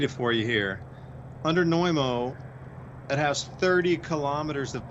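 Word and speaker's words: Znojmo: Republic that's incredible also it's called noimo and I'll spell it for you because it's kind of got an unusual spelling you spell it Z and O J as in Jacob m o neumo and the catacombs supposedly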